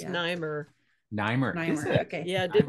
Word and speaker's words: Nimer: It's pronounced Nimer.